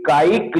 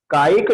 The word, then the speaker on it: कायिक: ध्यान रखना, जब भी आप उच्चारण करें तो पृथ्वी कायिक, कायिक शब्द का उच्चारण करें। पृथ्वी कायिक, जल कायिक, अग्नि कायिक, वायु कायिक, वनस्पति कायिक, है ना। पृथ्वी काय, जल काय, अग्नि काय, वायु काय, गलत।